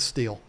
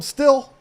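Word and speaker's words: Stihl: And that's how I pronounce it. Pretty sure that's how you pronounce it. Some people from the deep, deep South call them still, but I've always called them steel.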